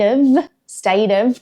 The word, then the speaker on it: of: The one exception is the word of, O-F. So even though it's spelt with an F, it's pronounced with a V sound. For example, state of Queensland, state of Queensland.